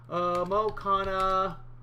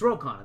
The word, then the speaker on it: Ro Khanna: Mo Khanna... wait a sec. I'm getting his name wrong, aren't I? Let's go back a little sec here and see if I can... It's Ro Khanna. That's what it is.